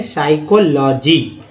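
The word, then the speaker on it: psychology: तो ये है दोस्तों पी जो है साई, यहाँ से पढ़ते हैं साई, अब एस्ट भी यहाँ साइलेंट ही है, साइकोलॉजी दो दो है।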